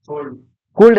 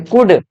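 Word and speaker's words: could: कुल्ड नहीं, कुड, L silent क्या है?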